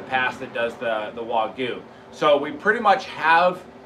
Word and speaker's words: wagyu: linked in the past that does the the wagyu so we pretty much have it is pronounced wagyu by the way because all you